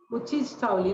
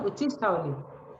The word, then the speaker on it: उच्छिष्टावली: उद्दिष्टावली किसे कहते हैं? उच्छिष्टावली ना, उच्छिष्टावली। क्या होगा इसका प्रोनाउंस, क्या होगा? उच्छिष्टावली। उच्छिष्टावली ना, उच्छिष्टावली किसे कहते हैं?